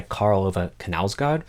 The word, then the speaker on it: Knausgård: I just read the latest book by Karl Ove Knausgård, whose name I only recently learned to sort of pronounce. I was never saying K before then.